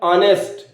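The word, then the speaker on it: honest: पहले कहीं आप इसको नेस्ट तो नहीं पढ़ रहे हैं अगर नेस्ट पढ़ रहे हैं तो गलत है क्योंकि इसका सही प्रोनंसिएशन है ऑनेस्ट आ ठीक है ऑनेस्ट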